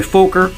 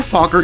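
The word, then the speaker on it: Fokker: around him there's Roy fulker or fauler if you prefer the matross pronunciation who's the leader of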